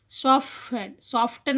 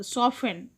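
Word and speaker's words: soften: సాఫ్టెన్ అనకూడదు, సాఫెన్, టీ.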